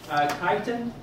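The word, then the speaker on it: chiton: Chitin is a common name for this organism. Same pronunciation as chitin.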